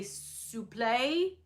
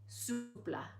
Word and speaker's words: souple: People often say souffle as in like a chocolate souffle, but I think it's like pronounced like supple, souple, right? In French.